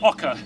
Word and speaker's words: oca: And it's a vegetable called oca, not to be confused with okra.